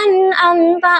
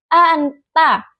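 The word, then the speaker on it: أنعمت: Kesalahan yang sering terjadi seperti pengucapan nun yang tidak menempel gigi sehingga terdengar seperti anta. Contoh bacaan benar. Anamta dengan nun yang jelas.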